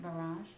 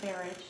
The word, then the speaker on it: barrage: everything foreign and then I'm pretty sure you meant barrage oh yeah what have you said marriage oh barrage ous like garage actually yeah I think that